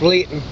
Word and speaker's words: Luiton: L-U-I-T-O-N, or I've heard it pronounced Litton.